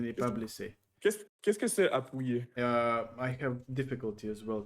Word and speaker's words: appuyer: Translate the word appuyer. Supported. How to pronounce that?